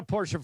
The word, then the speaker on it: Porsche: Is it Porsche or is it Porsche? Porsche. Yeah. Two syllables.